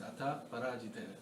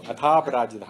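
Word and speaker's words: अथ अपराजित: Every time I read it as Atha Parajita. Oh, Atha Aparajita. Atha Aparajita it should be right.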